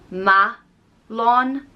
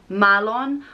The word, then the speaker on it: Meallán: It comes from an old Irish word for lightning and it's spelled M-E-A-L-L-A N and it can be pronounced either Meallán, Meallán, or Meallán, Meallán.